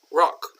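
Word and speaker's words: ROK: Rock. R-O-K. But we pronounce it rock.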